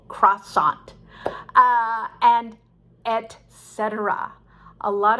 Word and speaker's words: croissant: to do i don't but you could say croissant with a kw sound croissant um but anyway many americans are not sure about how to pronounce that so it's actually very simple croissant uh and etc a